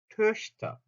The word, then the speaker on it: Töchter: 그래서 오 한 상태에서 소리만 이를 낸다는 느낌으로 으, 그래서 토흐터가 töchter, 토흐터, töchter, töchter 아시겠죠? töchter, 토흐터, töchter 요렇게 발음이 달라집니다.